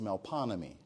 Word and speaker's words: Melpomene: Now, it is actually, it's pronounced differently. Not a lot of words in New Orleans are pronounced differently. The word actually is Melpomene, which is a Greek muse of tragedy.